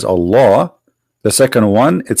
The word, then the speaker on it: Allah: al hamdu lillahi laughs the first one pronounced as a law the second one it